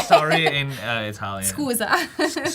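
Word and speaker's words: scusa: Schooza.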